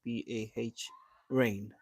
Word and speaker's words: Bahrain: how do you how do you say this b-a-h rain yeah yeah yeah so what did what do you say how can we visit your place and from I'm from Bahrain okay wow from Bahrain so like like originally from Bahrain that's crazy